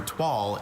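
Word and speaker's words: toile: find that it was upholstered in a flowery twal instead of plain blue denim. Twal. T-O-I-L-E. Twal. Correct. That's one I always mispronounce.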